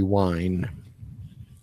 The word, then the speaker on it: Wein: way to spell wiener when it's German it's always the second letter than between with an IE e when it's a german root word or a german word it's the second vowel that gets pronounced w ein would be wine I'm visualizing this okay